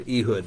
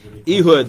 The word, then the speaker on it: Ehud: while to get through until we get to eood but you need to we need to know the back the name of the story eood The left-handed man how do you spell that